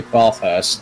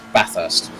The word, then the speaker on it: Bathurst: that one because there if you say bar first no it's bathurst that's how the aussies say it so you gotta try